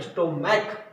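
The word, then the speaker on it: stomach: तो क्योंकि लास्ट में प्रोनाउंसिएशन स्टोमैक, सी एच जो है क प्रोनाउंसिएशन दे रहा है तो ये बनेगा स्टोमैक्स.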